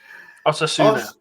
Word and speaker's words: Osasuna: Okay, first, can I just say, before we get into what is on the left-hand side, Osasuna, I can never pronounce that. Osasuna.